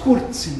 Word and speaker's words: Curzi: Curzi, les gens ne savent pas que ça se prononce Curzi dans le fond. C'est un nom d'origine italienne.